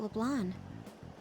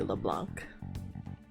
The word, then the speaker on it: Leblanc: hide for long hours how about Leblon what does everyone pronounce it like that like it's clearly LeBlanc Oh watch with the